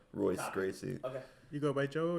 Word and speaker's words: Royce Gracie: Hoist Gracie starts with an R. Royce Gracie.